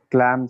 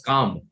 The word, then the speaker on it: calm: tranquil anyone clam sorry clam santa i didn't hear you that is not pronounced as clam it's pronounced as calm is kind of silent in that so calm is the